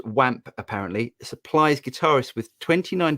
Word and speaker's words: OAM: california by believable audio oam pronounced wamp apparently supplies guitarists with